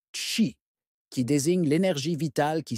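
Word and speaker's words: qi: sur un concept central le quii prononcé chi qui désigne l'énergie vitale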